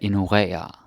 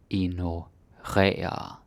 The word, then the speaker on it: ignorere: But you gotta say it correctly. Ignorere. Don't say like ignorere, or ignorere. No. Ignorere. That's how we say it.